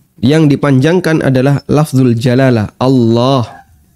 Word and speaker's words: Allah: Kalimat takbir Allahu Akbar yang dipanjangkan adalah lafzul jalalah Allah. Dan Allah kalau pakai standar tajwid berarti dia dibaca tafhim Allah. Yang kedua ee panjangnya dua harakat. Allah dua harakat.